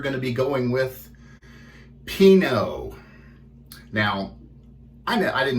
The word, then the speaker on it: Pinaud: out the google and just like the wine pinot is what we're going with here as our soap and